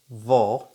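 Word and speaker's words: wo: uh uh it's german time so where is vo vol so remember we said uh w is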